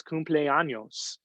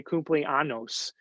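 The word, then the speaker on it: cumpleaños: on the days you can't pronounce cumple anos and you say cumple annos and and really offend somebody in your spanish class um you know you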